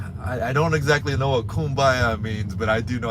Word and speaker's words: Kumbaya: I don't exactly know what kumbaya means, but I do know how to say it.